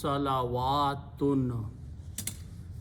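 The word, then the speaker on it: صلوات: Now in order to pronounce this waw with the alif, we have to put a fatah or zabar there, so it becomes salawatun.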